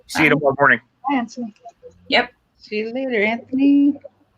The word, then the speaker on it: Anthony: My brother's called Anthony, but it's spelt with a TH, but we pronounce it with just as if it's just a T.